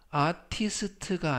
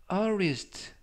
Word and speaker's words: artist: 이때 중간 부분에 있는 t는 트가 아니라 르, 그래서 아티스트가 아니라 artist, 아티스트가 아니라 artist 라고 발음하시면 더 좋겠습니다.